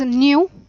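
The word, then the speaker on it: ν: So it is pronounced as nu.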